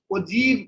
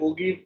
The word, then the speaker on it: ogive: इसका जो प्रोनाउंसिएशन है ओजीव कहते हैं, ओजीव, ओजीव. ये हमारा प्रोनाउंसिएशन ऐसा होता है ना. कुछ बच्चे ओगीव पढ़ते हैं, उसको कुछ ओजाइव पढ़ते हैं, बहुत सारा चीज पढ़ेंगे, बट उसको ओजीव कहते हैं, राइट.